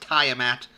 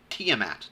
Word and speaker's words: Tiamat: kid from the dnd cartoon the five-headed dragon tiamat not pronounced tiomat it's pronounced tmat that's the name of the dragon that's all